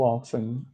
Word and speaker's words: often: How often? O T, pessoal, aqui não é pronunciado, tá? A gente fala how often, com que frequência.